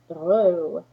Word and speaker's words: Girot: It is French and it is pronounced Girot.